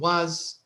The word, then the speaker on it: was: We also talked about the pronunciation, نطق was, were, أن هم في العادة يعني unstressed ما فيش عليهم stress. فعادة بتكون was هتسمعها أقرب لي was.